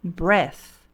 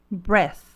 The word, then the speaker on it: breath: para nós em p portanto a pronúncia desta palavra é Breath Breath se nós trocarmos aqui o símbolo fonético então pela vogal aberta e e trocarmos o som do th por um F Apesar de que você sabe que esse F aqui ele é feito com a língua né e não com o Lábio então nós temos a pronuncia Breath Breath apenas uma vogal ali